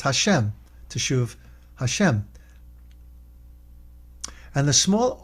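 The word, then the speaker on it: השם: Or pronounced Hashem, teshuv Hashem.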